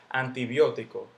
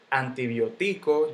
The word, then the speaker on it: antibiótico: digo antibiótico yo no digo antibiótico yo no digo antibióticos nada de eso yo digo antibiótico si se le pone su tilde porque porque las estructuras siempre llevan tilde siempre siempre y cuando el golpe de voz caiga en la antepenúltima han sido que este